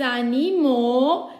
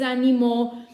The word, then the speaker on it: animaux: Quindi l'animal singolare, les animaux, perché voi sapete bene che AU si pronuncia O, la X finale non la pronuncerò, quindi les animaux.